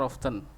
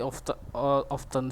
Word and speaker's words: often: Kita mendengar itu berbicara, listen to music more often. Oh, berarti often seperti ini dibacanya often, bukan often gitu.